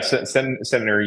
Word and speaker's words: Centenary: Did I have that pronunciation right? Yeah, Centenary University.